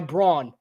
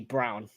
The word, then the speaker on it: Braun: misses any rebound by Braun and I think it's actually Brown not as I remember from the championship game bro Brown Christian Brown just it looks like it's spelled Brawn and there is the